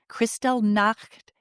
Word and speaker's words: Kristallnacht: the raid on his lab an atrocity resembling Kristallnacht during the Third Reich. Did I pronounce that correctly?